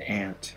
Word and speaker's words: aunt: do this first one we got aunt some people pronounce it ant i pronounce it aren't i call my aunts aren't uh aunt ready let's